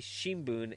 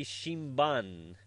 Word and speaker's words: Shimbun: Yomiuri Shimbun as Yomiuri Shimban. And even saying Babe Rusu, because they can't pronounce the TH, as Babe Rusa.